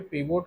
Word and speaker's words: pivot: देखिए पाइवोट table को कहीं-कहीं पे पीवोट भी कहते हैं। कहीं-कहीं पे पाइवोट भी कहते हैं। तो स्पेलिंग पे वो मत जाइएगा।